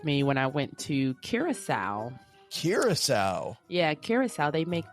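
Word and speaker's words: Curaçao: And I used to think it was called Blue Caraco, by the way, when I bought it. Oh, yeah. Yes. I didn't know the correct pronunciation until I arrived. And I was like, oh, I've been totally saying that wrong.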